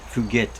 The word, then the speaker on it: Fugit: the Zift course of Tempest Fugit Fugette I believe is how it's uh pronounced.